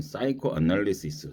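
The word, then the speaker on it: psychoanalysis: 정신 분석에서는 사이코 애널리시스 P가 묵음이 돼서요.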